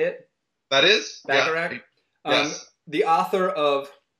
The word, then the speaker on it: Bacharach: That is Bacharach.